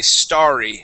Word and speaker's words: starry: it as St okay whenever you see this with two RS this is H going to follow the word star okay this is a starry starry night I've been